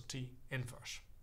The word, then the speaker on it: inverse: is a bit deceptive so you pronounce it always as s equals t inverse no divisions here now we have a